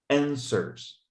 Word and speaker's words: answers: La W no se pronuncia. Y haz de cuenta que esta E es una O y pronuncia la RS. Answers.